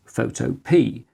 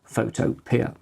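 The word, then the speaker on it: Photopea: my own Computing activities this year was this photo P an online Photoshop alternative available in both free and paid versions and which is pronounced photo p and not photo Pier back in May I tested every credible browser-based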